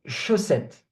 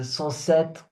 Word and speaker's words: chaussettes: Alors, des chaussettes. Des chaussettes. This one is a bit hard. Some ones pronounce it chaussette, saucette. It's a bit hard. Chaussette. Chaussette. Okay?